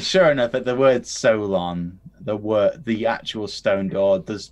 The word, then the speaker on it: Solon: So what is the correctly pronounced name? He's saying it close. It's actually Solon. Solon?